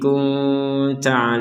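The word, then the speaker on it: كنت: kita harus memantulkannya qiblatallati kunta alaiha ada nun sukun bertemu ta kita baca dengan dengan samar kunta alaiha di sini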